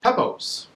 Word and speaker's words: Pepose: It's Pepose. I even typed it phonetically on my phone so I would remember.